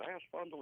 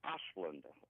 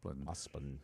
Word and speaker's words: Osplund: Is it Aspundle? He said, no, it's Osplund. Oh, okay. Osplund, yeah.